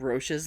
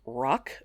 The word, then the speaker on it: Roch: plague sores on saint roche's legs i know ew but listen to this so roche or some pronounce it more like rock but i'm not going to be one of those people roche was one of those